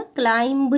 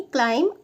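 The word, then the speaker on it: climb: देखो इसमें B silent रहता है। है ना? क्लाइंब नहीं बोलेंगे। इसको बोलेंगे क्लाइम आउट।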